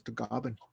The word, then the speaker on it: Tagaban: my last name is tagaban and then the filipino uh in the philippines they pronounced it as the goblin the goblin and my grandfather comes